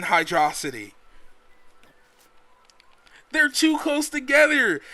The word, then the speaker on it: Hydro City: me explain the word the word hydro and city is so close together that you can't pronounce it in my opinion anything other than hydrosity they're too close together